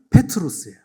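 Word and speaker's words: Πέτρος: 이 반석 위에 교회를 세운다고 하시는데 그 반석과 베드로의 반석 이름이 비슷하기 때문에 이 반석이 할 때는 페트라고 베드로야를 부를 때는 페트로스예요. 발음이 비슷합니다.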